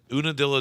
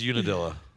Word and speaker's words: Unadilla: so we were headed there, and in Unadilla, Georgia, the van decided it was what? Is it pronounced Una?